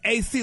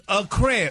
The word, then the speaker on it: accreditation: It's AC like AC. It's accreditation. It's accreditation. Yeah, but there's a I such say, thing. Hey, Gary, there's a such thing. Huh? There's a such thing as a long A and a short one like. short. Yeah, no, you. But it's accred. I say accred, not ac.